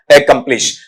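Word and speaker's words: accomplish: इसमें जो स्ट्रेस आएगा वो कै पर आ जाएगा, स्व साउंड अपना स्ट्रेस लेता नहीं है, इसे बोलते हैं आपका एकम्प्लिश। अगले क्वेश्चन पे आ जाओ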